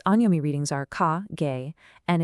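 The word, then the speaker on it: 下: Then on the right, we have the exact opposite below under its anomi readings are ka gay and its kunomi readings are shita oru sageru.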